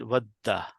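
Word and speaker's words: ودّ: But just to make it look nicer, you combine it by shadda and you will pronounce it vadda. You're going to say dal twice.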